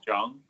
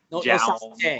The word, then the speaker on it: Jung: But the easiest way to say it is like the word young. It rhymes with young, but with the J sound, like the hard J. So it's just Jung. That's it. So not like some, Scandinavian Jung or Joung or John.